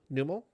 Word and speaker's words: Numel: Numel. How do you pronounce it? I think it's Nummel.